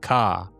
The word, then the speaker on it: Ka: I come from a planet that goes by the name of Ka, which is pronounced like your letter of the alphabet, K. I guess Ka in Spanish.